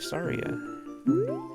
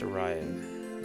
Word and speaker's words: Saria: Look, it's our BFF Saria. Or Soraya. I guess Soraya is the way it's pronounced.